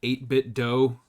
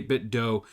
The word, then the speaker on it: 8BitDo: Max and I talking, I am a bit of an 8bit do, and that is how I pronounce it, the 8bit do enthusiast.